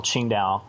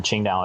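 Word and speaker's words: Qingdao: to a restaurant and you see an advertisement for chingow it will always say TS i n g t AO or Dao I can't I think d e AO I think Dao okay today it's spelled q i n Dao and for like dosm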